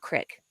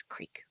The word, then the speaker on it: creek: Also, it's not crick, it's creek.